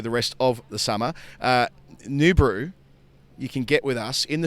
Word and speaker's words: Noobru: I have got so many different talking points about New Brew.